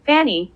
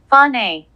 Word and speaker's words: Fani: Her name is pronounced Fani.